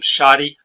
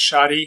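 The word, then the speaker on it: shotty: of that word and they spell it wrong because shadi is SH OTT why not D dy and it comes from buckshot they feel like buckshot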